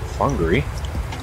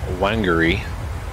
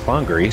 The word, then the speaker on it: Whangarei: to be confused confused with Winery it's actually pronounced Hungary I'm glad I looked that up because to